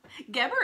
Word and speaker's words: Geber: Geber is biblical Mary. No, not the other. The way that it's spelled is G-E-B-E-R, but the phonetical pronunciation is G-E-H-B-E-R, Geber, okay?